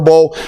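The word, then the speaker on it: Beaux: Bo Collins is my man's name, and it's spelled LSU Bo. I believe that's B-E-A-U-X, hell Bo yeah.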